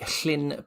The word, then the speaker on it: Llyn: 2 L's is pronounced like you're trying to get like a phlegm, like clear the back of your throat.